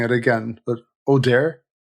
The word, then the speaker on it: Audere: Yeah, and the beginning of your own business, I'm going to make a balls of pronouncing it again, but Audere? Audere, yeah.